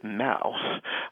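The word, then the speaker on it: mow: quite a bit of action was the word Ma uh originally I spelled it m au but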